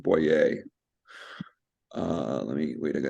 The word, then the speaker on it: Boyer: It's spelled Boyer, but he's French, so it's pronounced Boyer.